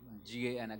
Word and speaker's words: Gana: So, as a group of devotees have gathered here, they are called as a Gana, not a G-U-N, G-A-N, a Gana. Okay, so we have to understand how it's pronounced.